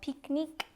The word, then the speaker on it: pique-nique: Like there was this fancy French one called Pique-Nique. So I spelled it out like P-E-E-K, N-E-E-K for Pique-Nique.